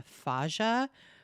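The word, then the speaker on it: faja: wear a i guess a fagia which is a it's spelled f-a-j-a which is a corset-like garment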